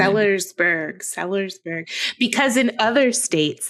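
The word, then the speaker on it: Sellersburg: it's in Ssburg which is in southern Sersburg. Sersburg because in other states they actually pronounce all the letters in their cities.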